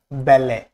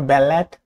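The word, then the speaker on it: ballet: Silent টি সিএইচ এর আগে বা নির্দিষ্ট কিছু ওয়ার্ড হয়, যেমন ওয়াচ, লিসেন, ব্যালে, নট ব্যালেট, not listen, not watch, watch.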